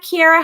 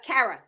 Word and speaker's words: Carra: instagram psychic kiara am i saying it right kiara how do you say your last name uh cara cara okay i always butcher